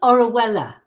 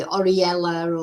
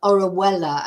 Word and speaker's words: Orihuela: maybe about a they can't pronounce it it's orella orella it's pronounced but uh you know people have a